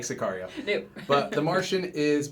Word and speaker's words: Sicario: I like to say it like Sicario. Yeah. They say it in the beginning. Sicario. It's Spanish for hitman.